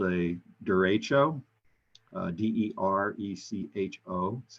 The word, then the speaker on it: derecho: a little weather trivia there's something called a derecho d-e-r-e-c-h-o that's how you spell it this is a long live line of